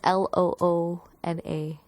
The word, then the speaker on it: Loona: And then they'll post a gif of them dancing, like Luna. Oh my god, I don't know how to say her name. It's Loona.